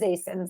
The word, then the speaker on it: ASIN: And so it is ASINs.